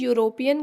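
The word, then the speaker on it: European: क्योंकि यूरोपियन का उच्चारण जो होता है वो य से स्टार्ट होता है, जो कि क से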